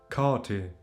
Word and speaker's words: kati: The first syllable is pronounced a little longer, so the R becomes or. So this sounds like the R in bath, for example. Bath, palm, yawn.